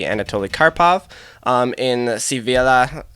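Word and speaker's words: Sevilla: B Anatoly karpov in sivilla sibelia I see and I know the V is a b and the L is of Y I believe in Spanish but Seville we'll stick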